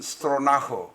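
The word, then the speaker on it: Stronach: 이 시간에는 만 91세, 우리 나이로는 93세까지도 말하는 만 91세가 된 캐나다의 30대 재벌인 프랭크 스트로나크 혹은 스트로나흐, 이 오스트리아 출신인 분이라 나흐라고도 발음하는 모양입니다.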